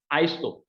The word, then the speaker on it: ISO: organization of standardization is the word called uh pronounced as iso and this iso is the word which means